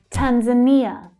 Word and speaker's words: Tanzania: Tanzania. Tanzania. So here we've got the third syllable is stressed. It's a short vowel sound, but it's the strongest.